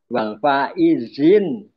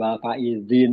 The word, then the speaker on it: wal faizin: Ini perlu kita ralat tentang pengucapan itu kebanyakan kan pada keliru ya. Minal aidin wal faidin ya. Yang betul kan minal aidin pakai di aidin. Aidul ya bukan aidul minal aidin bukan aidin. Wal faizin pakai Z.